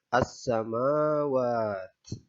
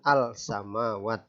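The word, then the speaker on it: السماوات: huruf Sin cara membacanya yaitu alif lam tidak dibaca ada tapi tidak dianggap ya Jadi langsung saja as Samawa bukan Al samawat contoh hukum tajwid yang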